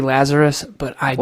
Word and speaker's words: Lazaros: Brother, so first of all, stepfather's last name, we'll get into it, and everyone says Lazaros. It's actually Lazarus, but I do not care.